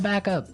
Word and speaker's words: back up: You have to say back up, Back up. back up. Yeah. So both words are stressed at about the same level, hey?